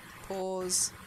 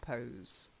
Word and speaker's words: pose: here's a pose so pause not pose I think the or sound is something you need to work on a little bit shiny okay or you